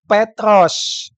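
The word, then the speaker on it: Πέτρος: dengan Petrus yang kedua yang pertama itu maskulin bacanya petros Yang kedua feminim bacanya Petra kago Lego hotisu e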